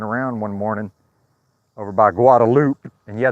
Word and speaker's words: Guadalupe: I was just walking around one morning over by Guadalupe, and yeah, they pronounce it Guadalupe in Austin. It's not Guadalupe, it's Guadalupe.